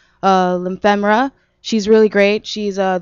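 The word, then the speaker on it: Liphemra: check out ly lyema I keep saying her name wrong she's going to kill me lyema that's how you say it and to find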